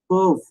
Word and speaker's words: peuvent: Pourna for, tout ce qui peuvent, tout all, sakina these, all those, qui who perv, pervல இருக்கிற இஎன்டியை நம்ம உச்சரிக்க கூடாது.